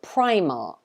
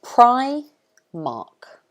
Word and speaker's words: Primark: their cheap affordable clothes this one we pronounce it primark so it's pry mark primark like that i'm sure some of